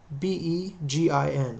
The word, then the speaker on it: Begin: Menachem Begin is spelled M-E-N-A-C-H-E-M B-E-G-I-N. Looks like begin. Pronounced begin.